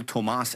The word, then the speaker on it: Tomas: He pronounces his name Cole Tomas Allen.